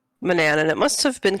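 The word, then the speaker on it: Manannan: all right well here we are in uh manan's house which growing up I always thought it was pronounced Manan so I don't remember when I learned to say Manana and it must have been king's quest five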